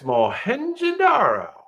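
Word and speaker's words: Mohenjo-daro: you go mu we knows the answer it's madaro madaro is in Pakistan Pakistan 2600 BCE and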